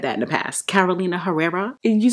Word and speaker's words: Herrera: again case closed catalina i think the h is is silent right it's not herrera although i know i've said that in the past carolina herrera you sound so ignorant